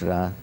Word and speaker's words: Ra: and the Egyptian goldra some say re but it's ra I mean the same people who who who spell it R R E then go and write the name of the Pharaoh Ramy Ramis which means issue emanating from raah so when they say the name of the Pharaoh they say ra but when they say the name of the god they spell it re it's ra it's ra because it's also